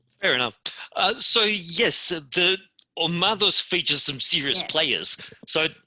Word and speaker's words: Omados: Yeah, well, look, when I look it up on the internet, it's Omados, over the accent on the A, but it means it's the personification of battle noise.